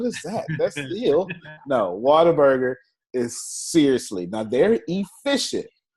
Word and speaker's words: Whataburger: So Texas is Whataburger, as in water. That's not the way it's spelled, but that's how we say it.